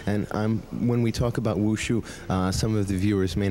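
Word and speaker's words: 武术: Okay, Wu Shu. Actually, in Chinese, the right pronunciation Wu Shu, and it exactly translated as martial arts.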